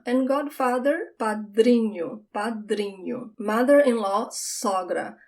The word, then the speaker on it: sogra: Mother-in-law, sogra. I wonder if you can notice that só is the open sound of the O, sogra.